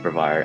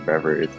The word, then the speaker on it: Brevard: forget that feeling where the announcer incorrectly pronounced brevard as reversed and we just stared